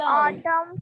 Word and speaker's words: autumn: yes ma'am, हाँ, सो L silent हो गया, अब एन साइलेंट। एन वाले वर्ड बताइए कौन कौन से हैं? ma'am column, कॉलम, हाँ, कॉलम, autumn, कॉलम में तो हमें भी बड़ा स्टार्टिंग में